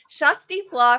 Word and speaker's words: Kjersti Flaa: I have your favorite journalist and YouTuber here today, Shusty Flaw from Flossom Talk.